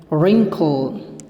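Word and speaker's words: wrinkle: इसमें W silent रहता है, आर से इसका बोला जाता है रिंकल, रिंकल, ring, रिंकल, रिंकल।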